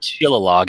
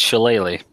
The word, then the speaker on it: shillelagh: So Just like it's not Shillalog, it's Shillelagh.